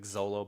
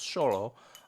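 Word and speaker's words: Xolo: for a V2 DH sholo uh that's the x o it looks like Zolo but apparently it's pronounced sholo um which I am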